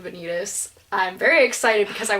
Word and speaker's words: Vanitas: I'm pretty excited for Vanitas, and this is controversial because we pronounce this differently, but I'm saying Vanitas.